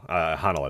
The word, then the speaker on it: Honnold: Honnold, I believe is how you pronounce it.